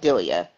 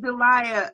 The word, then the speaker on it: Dilia: I made but it's my name is pronounced dilia dilia from where oh I said Delia I'm I'm so sorry